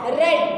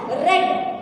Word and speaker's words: read: i read yesterday so you have to pronounce it as red because here it is given in the past form so both for passive